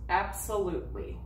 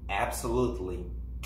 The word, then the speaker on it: absolutely: and she says absolutely so the letter T you do not pronounce absolutely absolutely no man no T